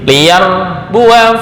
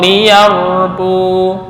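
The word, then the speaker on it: ليربوا: maupun waqaf ya jadi liar Bua Fi tapi ketika waqaf liyarbu bukan liarbua salah Kalau diteruskan liar Bua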